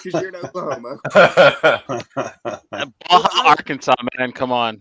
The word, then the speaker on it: Arkansas: Baja, Arkansas, man.